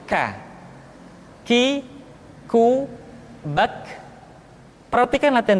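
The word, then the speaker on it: ك: Selanjutnya huruf K diucapkan dengan mengangkat pangkal lidah kita ke posisi di depan huruf Qaf. K diucapkan dengan mengalirkan nafas kita. K, ki, ku, bak. Terdengar ada suara yang atau nafas yang mengalir.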